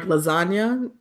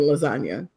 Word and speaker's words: lasagna: And I like that about G's moving silent like lasagna. That was my favorite line ever, and it's still the best line ever, because you're like, oh shit, the G is silent in lasagna.